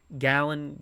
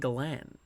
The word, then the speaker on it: Gallen: Gallen. I kept saying Gallan, but not Gallant, but Gallan. Gallen. I had Gallan on my mind, but I don't know. It's a Gallen.